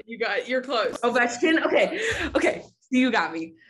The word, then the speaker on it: Ovechkin: I already know it, but I think it's pronounced Ovechkin. Ovechkin. You're close. Ovechkin. Okay. You got me. Ovechkin.